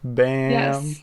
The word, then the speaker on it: B.A.A.A.M.: april here from bam is that how you pronounce it b-a-a-a-m bam that is a pretty good pronunciation which is